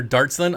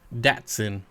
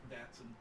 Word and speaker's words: Datsun: Dotson or Dartson? I've never heard it pronounced Dart. Ever. That seems like an easy one. It's Datsun. Datsun.